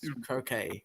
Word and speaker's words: croquet: they call it we we call it croquet but it's spelled with a T at the end of the the the word yeah I call it croquette yeah it's a it's actually a silent T you know there's certain